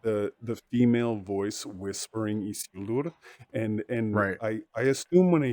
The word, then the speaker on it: Isildur: Roll your R's, please. There you go. Isildur. Thank you. Every video I see of people talking about Isildur, they've been saying Isildur a lot, and I've heard it more than once. People saying Isildur. Isildur. I don't know what that is, but people aren't hitting those R's.